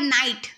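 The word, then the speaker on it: knight: उसके बाद नाइट, नाइट में जी साइलेंट हो जाएगा।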